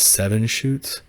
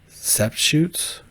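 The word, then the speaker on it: Sept-Chutes: Okay, this is the beast of what everyone online calls seven shoots, and I think it's pronounced sept shoots.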